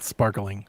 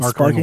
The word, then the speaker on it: Sparking: you can't read um it's sparking I'm not going to read all that not sparkling sparking sparking it's not sparking sparking water it's sparking it's